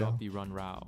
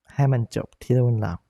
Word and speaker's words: ให้มันจบที่รุ่นเรา: Wait, how did he pronounce that again? Our High man job the run rao. That's not even close. That's not even close. It's ให้มันจบที่รุ่นเรา That's how you pronounce it.